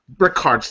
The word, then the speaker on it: Rickards: half, I still thought the actress Emily Bett Rickards, that I believe that's how you pronounce her name. Rickards, thank you.